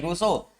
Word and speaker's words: Rousseau: The works of John Jacques रूसो, याद रखिएगा spelling, रूसो ROUSSEAU, ठीक है, रूसो क्या हुआ, एंड विलियम गॉडविन, बताइए आपको कौन है?